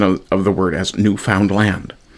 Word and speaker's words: Newfoundland: of the word as newfound land. The proper way to say it, he insisted, was newfound land with the emphasis on the last syllable.